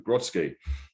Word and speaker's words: Grodski: My name's Craig, your host, and today we are joined by Grodski. how you doing? Very good, thank you. Very good. I'm glad I pronounced your surname right anyway.